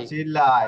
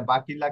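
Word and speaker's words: vacilla: বাচিল্লা, এটা বাকিল্লা কেন? চির পরে ই আছে, এটা চর উচ্চারণ করবে, বাচিল্লা।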